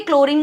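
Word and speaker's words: chlorine: जैसे क्लोरीन, जब मैं बोलती हूँ क्लोरीन तो H साइलेंट सा हो जाता है, क्लोरीन क के बाद ल की साउंड आता है, सो वो Cl हो गया।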